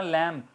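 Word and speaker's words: limb: इस तरह लिम, टांग, लिम, लिम्ब नॉट लिम्ब, ठीक है।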